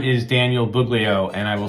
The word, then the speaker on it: Buglio: cool good afternoon everyone my name is Daniel buglio and I will spell that last name it's b as in boy